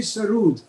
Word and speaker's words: sarod: Sarod. Sarod. Actually, the actual pronunciation earlier used to be sarud, which is a Persian word which means music.